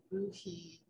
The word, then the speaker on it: bohea: If I may interject, so bohea, B-O-H-E-A, right? Yes. So it's super interesting when you Google bohea, you find entries and tea companies saying it's pronounced buhi, and that it describing it as Suchong or